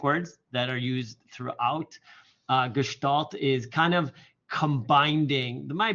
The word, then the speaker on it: Gestalt: This is pronounced Gestalt. So everybody knows a new word, a German word, Gestalt.